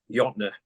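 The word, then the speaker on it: Jötnar: oh um anything by yna is who I use now which SP with a j j o t n a r j a t n a r n a r it's j pronounced y there was um a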